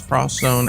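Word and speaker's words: Project X Zone: like project cross zone they actually pronounce it as cross zone x zone it's spelled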